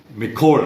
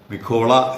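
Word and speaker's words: Micol: താല്പര്യമുള്ള ഒരു കാര്യമായിരിക്കും എന്നുള്ളതുകൊണ്ടാണ് എംഎസ്സി മിക്കോൾ നമ്മൾ മിക്കോൾ എന്നാണ് കേട്ടിരിക്കുന്നത് പക്ഷേ മിക്കോള മിഖോള എന്ന് തന്നെയാണ് അത് ഉച്ചാരണം എന്നാണ് ഒരു ഇറ്റാലിയൻ നാമമാണത് എന്തായാലും നമുക്ക് കപ്പൽ ആദ്യമേ തന്നെ ആ കപ്പലിന്റെ കാഴ്ച കാണാം.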